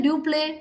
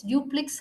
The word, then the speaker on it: duplex: word please duplex right many of us say do play do play it's not correct it's duplex house okay he is a